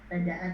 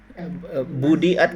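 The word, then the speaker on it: بُدِئَتْ: Badaat bihimas suwari. Budiat kali ya. Perbaiki kalau bacanya budiat. Budiat. Iya. harus jadi majhul ya.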